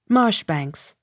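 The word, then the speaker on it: Marjoribanks: i n g mannering m a j o r i b a n k s marsh banks m c capital i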